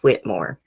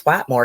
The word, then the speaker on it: Whitmore: mug shot in it it's not quite more her name is mary whitmore um the sheriff's office said that she wouldn't even you know tell them how to pronounce her name right at first you know they thought it was white more because that you know